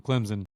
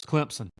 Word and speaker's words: Clemson: an inside joke the the Clemson football fans came for my throat because I pronounce them Clemson all the time they said there's no Z in Clemson so I'm just going to start pronouncing it like dbo does Clemson uh I've got Clemson